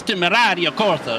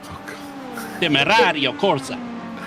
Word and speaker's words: Temerario Corsa: Okay, you have to say it like you're a cocky Italian, right? You say Invictus Temerario Corsa, almost like you're saying D's, right? Temerario Corsa.